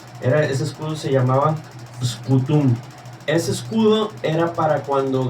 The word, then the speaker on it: Scutum: Entonces, el primer escudo se llama Cutum, pero con ese al principio. Scutum. Okay. Scutum.